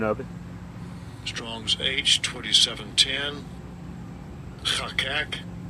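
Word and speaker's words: חָקַק: And I'll give you a pronunciation of it. Strong's H2710. Chakak. Chakak says to cut out, decree, inscribe, set, engrave, or portray, or govern.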